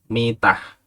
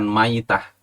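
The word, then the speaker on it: مِيتة: Ini bacanya dengan mim di kasroh, yakni mitah. Artinya keadaan mati, bukan maitah.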